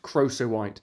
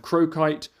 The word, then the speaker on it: crocoite: it for years very embarrassing it is however pronounced crossowite which is tricky to find out because lots of people pronounce it various different ways I found croquite Croco white but crossowite appears to be the actual way